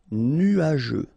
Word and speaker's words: nuageux: Final X not pronounce je nuageux correct dangereux ok dangereux dangereux